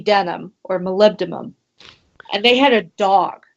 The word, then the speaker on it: molybdenum: on so oh I know how do you pronounce this this mineral ah Molly but denim molybdenum okay molybdenum I've got it okay I'll put